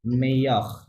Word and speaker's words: meilleur: Lo melo No, double L silent. Meyakh, double L উচ্চারণ করা যাবে না।